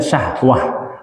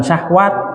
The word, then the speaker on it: syahwah: Mikraj Isra Mikraj ro syahwah dibacanya syahwah bukan syahwat kalau syahwat tanya ta